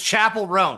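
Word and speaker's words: Chappell Roan: I would say it's T Swift Beyonce Chappelle Ran. Uh well, I like how you say that by the way, Matt. I like What is her name pronounced? It's Chapel Ran.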